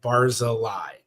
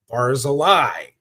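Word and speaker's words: Barzilay: So in the sphartic records it was usually spelled B A R Z I L A Y. Barz a lie.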